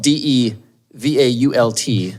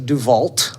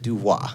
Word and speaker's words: DeVault: So, Marissa DeVault, um it's spelled d e v a u l t. Yeah, a lot of people think Marissa DeVault, but but it's pronounced DeVault.